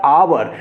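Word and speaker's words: hour: हो गया ह मतलब हॉर्स इसको बोलने की उच्चारण के दृष्टि से हम इसमें ए का प्रयोग किए लेकिन ह ओ यू आर अवर क्या बोलते हैं अवर और अवर में हम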